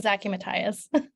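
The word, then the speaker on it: Zaki-Mathias: ask is that the print the correct pronunciation of your name very close yeah it's Zachy Mathias Matthias okay so we next have Dr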